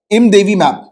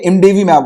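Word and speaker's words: imdevimab: ये कॉकटेल था 2 monoclonal antibodies का, कैसीरिवीमैब और इमदेवीमैब। तो इमदेवी तो नहीं होगा, ये इमडेवीमैब होगा, ठीक है।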